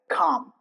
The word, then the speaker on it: calm: The rules are L before M, K and D. For example, calm. Calm. There is no hint of L while saying while pronouncing calm. You see it's not calm.